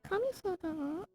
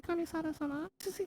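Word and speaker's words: Kamisato: he said it in japanese too he said kamisota and then he said and that's improper it's definitely a proper um but you're supposed to say kamisados which is actually the way that the girl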